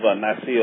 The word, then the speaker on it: Nicaea: You know, look at like the Council of Nicaea, or Nice, as some people pronounce it.